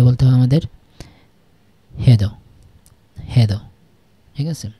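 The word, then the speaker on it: hej då: হেদো, হেদো, ঠিক আছে? আচ্ছা, এই উচ্চারণটা, এই যে এই দো, এই উচ্চারণটা অনেকেই মানে নেটিভ স্পিকাররা দোয়া বলে। দোয়া, দো অথবা দোয়া, দুই রকমই শোনা যায়।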